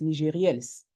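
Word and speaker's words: Nigérielles: Abigail, by the way, it's NIGERIELLES. I know that you will have the hard time to pronounce it because it's in French.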